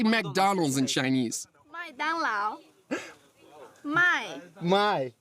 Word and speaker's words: 麦当劳: 麦当劳，麦 My 当 dang 劳 lao.